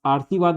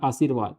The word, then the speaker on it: आशीर्वाद: का उच्चारण फिरवाद आशीर्वाद यहां क्या हो रहा है देखो आ उसके बाद आ के बाद आधा र का उच्चारण हो गया आरसीवाद हो रहा है तो यहां आशीर्वाद ठीक है कवत्री ये